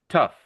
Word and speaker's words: tough: think really it sounds more like this. T-U-F-F. Tough. Because it's a short U sound. Not a long U sound like with rough.